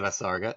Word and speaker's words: visarga: Generally, the visarga is pronounced like the H in house.